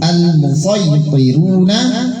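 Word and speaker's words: المصيطرون: Kemudian yang tulisan shad tetap boleh shad boleh sin, hanya satu, al-musaytiruna sama al-musaytiruna boleh.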